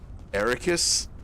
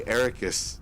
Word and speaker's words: Arrakis: Arrakis? Why did he say Arrakis? It's Arrakis. Arrakis. You know, like that place called Iraq.